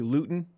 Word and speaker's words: Luton: realize I mean you were raised in my pronouncing it correctly Luton yes just like when I watch double-oh-seven there's